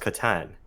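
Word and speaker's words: Catan: you how you pronounce uh katan katan it's pronounced katan not an uh yes katan for germany god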